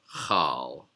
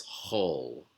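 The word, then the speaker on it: כל: so in this case this syllable is pronounced whole instead of how so it's whole and then moving along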